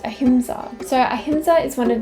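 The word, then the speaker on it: अहिंसा: tattoo on my right arm the word is pronounced ahimsa so ahimsa is one of the five yamas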